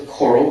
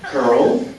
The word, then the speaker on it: COERLL: Well, you can pronounce it like this, like a coral reef. That's actually what I intended when I was kind of playing around with this unpronounceable acronym. But it's really interesting to me because people pronounce it like this, COERLL, and that's okay, that's fine.